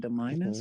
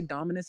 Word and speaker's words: Dominus: crazy Deus okay okay he said domus or is it Dominus have I been saying his name wrong this whole time yeah it's supposed to be Dominus I think like the